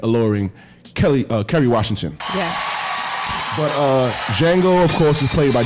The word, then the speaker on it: Django: Django. With the D. The D is silent.